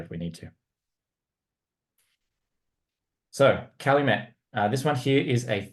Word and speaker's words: Calumet: I thought, yeah, Calumet, it's got to be a French connection. And it might be, but the States, they actually pronounce it as Calumet.